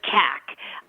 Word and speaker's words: Kac: i'll just say that my name rhymes with jack so it's cac um i would you